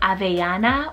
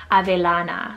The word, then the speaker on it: Avellana: here is the name Avellana or Avellana, spelled A-V-E-L-L-A-N-A. There is obviously a few ways you could probably pronounce this, Avellana, Avellana. Few different options here.